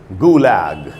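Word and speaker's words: Gulag: transcription लिखा है मैंने यहां पर और इसका उच्चारण है गुलग गुलग गुलाल की मीनिंग क्या होती है और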